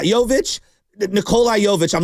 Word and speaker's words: Jovic: Am I even pronouncing that right? Jovic. Yeah, Jovic.